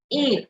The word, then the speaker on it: et: Et toi, et toi, et toi. So this is like the English alphabet A. ET is pronounced as the English alphabet A.